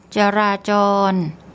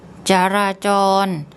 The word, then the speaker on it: จราจร: So what we have here, we have the Georgian J consonant, and then we have to put in an implied vowel, ja. Then we have the ro-rua and a long R, ra, and then we have again another Georgian and the ro-rua. So I'll get Pom to say that for you. จราจร จราจร จราจร There are probably some